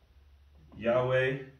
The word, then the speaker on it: Yahweh: um so the way some people pronounce it is sorry now i'm doing it in mirrored form yahweh and some people will call it just different pronunciations of the same word and you're trying to read